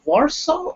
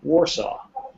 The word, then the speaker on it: Warsaw: how can i pronounce warsaw or varso with a v sound or with a w well in english we pronounce it as though it's two separate words war saw warsaw now i don't know